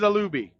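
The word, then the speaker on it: Olubi: on al aluby man trying to figure out how to say it it is aluby seon alui Grant Stewart is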